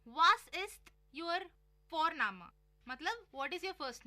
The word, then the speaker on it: Vorname: और हम यहाँ पे फोरनामा प्रोनाउंस करते हैं बट लिखते हैं उसको VORNAME। ओके, तो वो हम इंग्लिश के अनुसार प्रोनाउंस करेंगे तो वो बनेगा वॉरनेम, बट नो, इट्स फोरनामा।